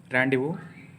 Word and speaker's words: rendezvous: d e z v us but it is pronounced as randu with Ray first let us try to understand